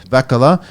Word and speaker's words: Vehkala: How do you pronounce the last name? Vehkala.